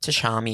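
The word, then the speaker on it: Tchami: Is that Chami? Is that how you say it? Tashami.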